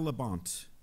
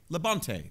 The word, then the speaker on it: Labonte: All right, our next question comes from Kyle Labont. Am I pronouncing that right? Could it be Labonte? Labonte, thank you very much.